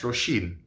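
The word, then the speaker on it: Róisín: I know it's pronounced Roisin because the book says so.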